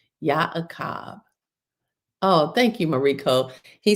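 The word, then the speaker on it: Y'aqab: Yakab is spelled Y Apostrophe A Q A B and that is the correct ancient PaleoHebrew spelling. Yakab.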